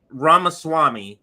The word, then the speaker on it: Ramaswamy: don't know how to say his last name ramaswamy Rama Swami so thank you for that um but what